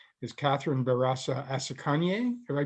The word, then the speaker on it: Catherine Barasa Asekenye: And so he connected me with its president, and her name is Catherine Barasa Asekenye. Have I pronounced that right?